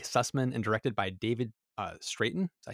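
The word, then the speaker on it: Straiton: The episode was written by co-producer Mike Sussman and directed by David Straten. Is that how you say his name? Yep. Straten.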